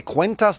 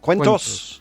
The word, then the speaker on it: cuentos: I think you say cuentas de hadas, right, in Spanish? Cuentos. Cuentos.